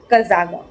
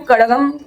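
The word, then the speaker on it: Kazhagam: द्रविड़ मुनेत्रा कजागम। ठीक है? और ऑल इंडिया द्रविड़ मुनेद्रा कजागम। इसको एक्चुअल में कड़गम ऐसा कुछ तो प्रोनाउंस करते हैं बिकॉज़ इट्स केरला या साउथ का नेम है।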